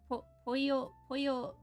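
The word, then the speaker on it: Poyo: But pollo, like, it's spelled, the Kirby way is spelled with a Y. P-O-Y-O. The chicken way is 2 L's. But it's pronounced as a Y, so, you know, whatever.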